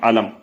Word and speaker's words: علم: سننے میں یہ بظاہر ایک جیسے لگ رہے ہوں گے، لیکن ان کے تلفظ میں اور ان کی اسپیلنگ میں تھوڑا سا فرق ہے. پہلا والا جو علم ہے وہ عین سے لکھا جاتا ہے، عین لام میم علم.